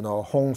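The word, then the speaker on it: hūṃ: You can visualize, this is Tibetan letter, but you can visualize English, Hong, H-U-N-G, Hong.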